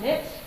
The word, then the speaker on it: niche: anyone familiar with that fun word called Niche rhymes with wi Rich it's not just your who